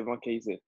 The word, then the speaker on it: Vancaeyezeele: To be fair, even in France, they cannot pronounce my name, so that's fine. My name is Vancaeyezeele. They say Vancaeyezeele.